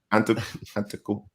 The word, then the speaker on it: Antetokounmpo: You got ETP, Ellis, the producer over there, pronouncing what's the last name again? Say it again. Antetokounmpo.